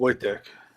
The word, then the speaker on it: Wojciech: We got Wojciech and we have Wojtek. Wojciech. Yeah, we have to Wojtek. Wojciech. I know what it looks like. It's pronounced Wojtek.